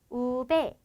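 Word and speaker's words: uve: 그래서 엘에, 에세, 때, 우, V 등장하게 되는데 V는 스페인어로는 우베 라는 명칭을 가지고 있고 비읍 소리를 가집니다.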